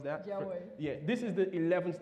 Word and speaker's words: Jia Wei: Did I pronounce that? Jia Wei.